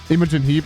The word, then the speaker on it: Imogen Heap: too honestly I was thinking more of like emojin Heap Imogen Heap yeah that's how you pronounce it my score I would probably give